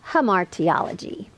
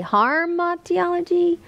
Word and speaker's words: hamartiology: And today, the formal word for the doctrine of sin is hamartiology. Hamartiology. Sometimes I say harmatiology, which kind of makes sense because sin harms us.